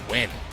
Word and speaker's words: Nguyen: You know I messed up a couple of times back in the past. Yeah, it's Nguyen.